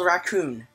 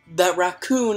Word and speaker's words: Rakuen: It's called Rakuen.